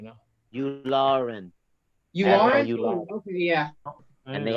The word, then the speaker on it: Yularen: He is Unaran or something? Unaran or Unalan, or I can't pronounce that guy's name right now. Yularen.